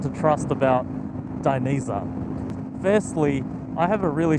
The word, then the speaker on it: Dainese: about an hour ago how to pronounce diniza properly I used to say Dan easy but uh yeah forgive